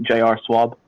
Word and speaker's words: JR Swab: Is it like Schwab or JR? It's actually It's unfortunate. It's my initials and my last name. It's just JR Swab.